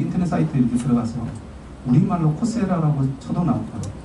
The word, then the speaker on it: Coursera: 그래서 발음하면 코세라라고 얘기합니다. 코스 플러스 RA.